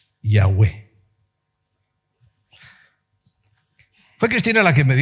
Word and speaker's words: Yahweh: Y a la hora de pronunciarlo es ya U, E, Yahweh.